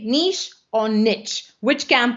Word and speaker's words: niche: or niche which camp are you in nisha niche i feel like this is one of those are you a cat person are you a dog person questions tell me in the comments how you say it i personally say niche i also live in a french speaking province so you know all right um so i'm going to keep saying niche but sometimes i'm going